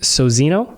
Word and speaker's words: Sozinho: And Sozinho. That's right. You pronounced it correctly.